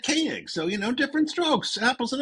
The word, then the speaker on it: Koenig: I've been watching a lot of Space 1999 lately, so I've been saying Koenig. But I believe he pronounces it Koenig.